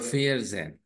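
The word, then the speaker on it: vierzehn: जन कहते हैं वैसे 14 को फोर मींस फियर प्लस 10 जन सो इट इज अ फेयर जन ओके इसके बाद में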